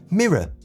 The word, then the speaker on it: mirror: here for so long, I hear it as a uh mirror. Uh, but it's it's not. It's a with a really tiny R in the just the tip of the tongue. Mirror.